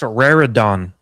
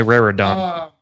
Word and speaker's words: Raridon: It's pronounced Raridon. Raron. It's like a Pokemon. Eli Raridon.